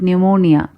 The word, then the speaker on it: pneumonia: For example, the pronunciation of the Greek word pneumonia. Here the P is silent.